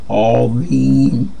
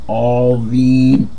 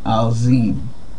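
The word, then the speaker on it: عظيم: Azim. Azim. And it's important for you to know that many books will have this written kind of like with a Z, and if you read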